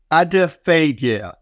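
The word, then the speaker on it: Adephagia: I'm going to mention, and Andreas will tell me I've got the pronunciation wrong, Adiphagia, who apparently is the Greek god of gluttony.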